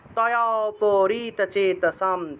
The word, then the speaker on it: তয়োপরীতচেতসাম: থাকায় ম উচ্চারণ, প্রসক্তানাম, তয়োপরীতচেতসাম, তয়োপরীতচেতসাম, তয়োপরীতচেতসাম, তয়োপরীত, এখানে অটাকে আলাদা উচ্চারণ করবেন না, ঠিক আছে, এই যে তয়া পরিত একসাথে, আ থেকে একটু টান দিবেন আর কি, তয়োপরীতচেতসাম।